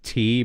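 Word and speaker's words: Tee: Did you know the German word for tea is tea, but it's spelled T-E-E?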